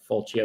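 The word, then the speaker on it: Fulcio: certificates is it's called Full Co is the name you you might have heard or falchia there's no canonical pronunciation as far as I know f-u-l-c-i-o and so fulsio is the certificate Authority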